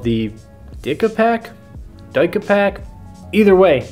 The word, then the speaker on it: DicaPac: But I did remember another tool that I've seen a friend use in the past called the DicaPac. Either way, not a good name, but it's spelled D-I-C-A-P-A-C.